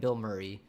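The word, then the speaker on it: Bilmuri: my current favorite band, Bill Murray. Uh, B I L M U R I. It's sounds like the actor, but it's not spelled like the actor in case you wanted to look them up.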